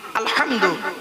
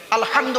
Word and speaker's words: আলহামদু: কাটো হ্যালো আরো দেখেন আলহামদুলিল্লাহি রাব্বিল আলামিন আলহামদু আলহামদু এই গলার ভেতর থেকে হেটা উচ্চারণ করবেন আলহামদু মানে হচ্ছে সমস্ত প্রশংসা আল্লাহ তোমার আলহামদুলিল্লাহি রাব্বিল